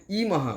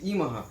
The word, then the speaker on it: Yemaha: হচ্ছে ওয়াই ই এম এ এইচ এ মানে ইমাহা উচ্চারণটা হচ্ছে ইমাহা অনেকে বলে যে ডুপ্লিকেট ইয়া এটা ডুপ্লিকেট ইয়ামা